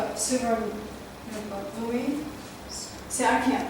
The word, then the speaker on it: Suvarnabhumi: Suvarnabhumi. See, I can't pronounce it, let alone spell it. Suvarnabhumi? Suvarnabhumi? Suvarnabhumi. Bhumi. Bhumi. Bhumi. Suvarnabhumi. Yeah. So the BH is a P.